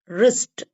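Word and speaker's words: wrist: ஓ என் G wrong or ஐ எஸ்டி ரிஸ்ட் அப்படின்னு படிப்போம் அப்ப இந்த w வந்து இங்க வந்து உச்சரிக்கப்படாது ஓகே இப்ப இந்த மற்ற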